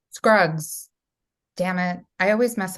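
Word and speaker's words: Scruggs: Uh let's talk about the ballot of Buster Shrugs. Am I saying it correctly? Shrugs. Scrugs. Scrugs.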